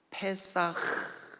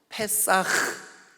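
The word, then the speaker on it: פסח: 건너 뛰었던 주십시오 sov 이게 이제 히브리 말로 팬싸 이렇게 발음합니다 팻 싹 그럼 마스크 계셨습니까 어치 만 틸 거예요 한번 해보시죠 팬싸 큭 할 때 목을 긁어야 팬싸 카 독일어 도 이런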